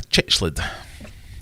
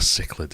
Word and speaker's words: cichlid: these fish is not a chichled or a cichlid if you're going to be a stickler from pronunciations discus epistogramma geophagus or